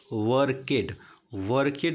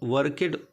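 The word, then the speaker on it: worked: ये जिससे लड़का है जो पढ़ेगा तो पढ़ेगा वर्केड मीन्स होता है, तो वर्केड पढ़ेगा, लेकिन इसको वर्क है, वर्कड है। तो जब आप इसको बता देंगे कि नहीं बेटा ये वर्केड नहीं है वर्कड है, उसके दिमाग में ये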